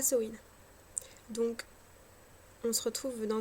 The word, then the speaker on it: Samhain: Je sais que beaucoup prononcent Samain, voire Samin, pour le sabbat du... eh ben, je m'étouffe. Du 31 octobre. Bon, je l'ai appris en gaélique irlandais au départ, et en gaélique irlandaise, ça se prononce Samhain.